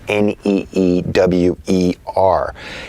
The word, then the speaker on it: Neewer: a company called newer I think that's how it's pronounced neew er and I read the